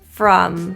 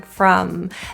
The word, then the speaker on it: from: tail in there bye from this vowel is neutral again jaw together from from the lips are in a neutral position as well rather than an O like it's spelled from from from they this has two